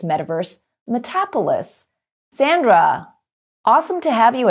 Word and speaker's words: Metapolis: It's Metapolis, How do you pronounce it? Metapolis, but a lot of people pronounce it Metapolis.